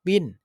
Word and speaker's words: wind: ว่า ลม นะ ครับ Win ก็ คือ อ่าน ออก เสียง ตัว เดียว กัน กับ Win เพ ว่า ชนะ เลย นะ ครับ แต่ ว่า เขียน ไม่ เหมือน กัน นะ ครับ Win แปล